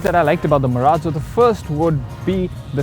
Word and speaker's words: Marazzo: And by the way, you pronounce it Marazzo in a very Italian way, as Mr. Anand Mahindra himself insists that we do so, despite the word being derived from a Spanish sublanguage.